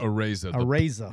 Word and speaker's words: Araiza: So last year, one of our first shows, Matt, can you pronounce it? Araiza.